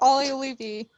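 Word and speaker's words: Juolevi: What, Oliolevy? Correct, yes, Oliolevy.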